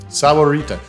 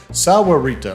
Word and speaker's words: Sahuarita: so here we go I'm on the translate thing sawarita Sahuarita Sahuarita okay so there we